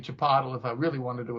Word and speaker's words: Chipotle: instead of theater to make fun of people mispronouncing it. It's the same way I call that burrito shop Chipotle instead of Chipotle. It's Chipotle.